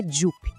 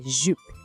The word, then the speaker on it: jupe: La jupe. O som do U aqui também pede aquele biquinho. É um som bem fechadinho. Ouve de novo. Jupe. Não é jupe, é jupe.